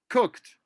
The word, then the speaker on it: cooked: one again slowly listen cook it's almost like it has three sounds cook when you say it faster cooked okay and then cooking